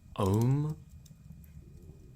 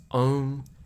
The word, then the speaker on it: Om: It is not always pronounced like home, but not a coincidence that it can be.